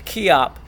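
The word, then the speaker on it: 기합: all one word but think of a key starting your car opening your door key and think I'm hopping okay but hop without the H up okay very very light on the H so it's key op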